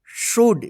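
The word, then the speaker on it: should: tells us ट वी शुड देखि य एस एच ओ यू एल डी शुड य प एल जो है ना साइलेंट रहेगा इसको शुड मत पढ़िए शुड पढ़ते हैं शुड नॉट सी व्ट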